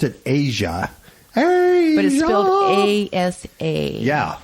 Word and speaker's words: Aja: it was 76 77 from Steely Dan they pronounced it aja a yeah it's spelled aza almost a form